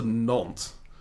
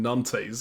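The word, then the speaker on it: Nantes: in Gent I've been exiled to non and I did pronounce that right this time I apologize to all the French people who were watching the last video and were cringing hearing me saying NES over and over and over again um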